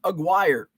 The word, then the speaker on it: Aguirre: had stream yard working rhymes with Maguire Mark Aguirre sat behind Aguirre and